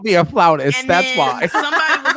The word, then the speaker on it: flautist: I need to do a dig at CBS because not y'all called her a flutist when the correct pronunciation is flautist.